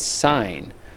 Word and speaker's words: sine: spelling of it but it looks like sin we always pronounce it as sign so when we're talking